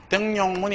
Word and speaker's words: 등용문: 그런데 이건 바로 등용문이 아니고 등용문 얘는 첨가 여기 하면 안 됩니다.